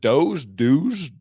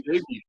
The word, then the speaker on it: Doege: Is it Doge? Well, we say Doege, but and he answers us, so let's go with that.